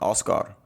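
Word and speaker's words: Oskar: chose oscar which um which is how they say it in the swedish version oscar oh yeah there's that hard k and also i was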